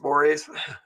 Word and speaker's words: mores: mores it looks like mores but it's actually pronounced mores and I kind of like it uh what